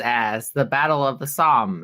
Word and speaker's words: Somme: Such films as The Battle of the Somme, is how you say it, S-O-M-M-E, The Kaiser, The Beast of Berlin.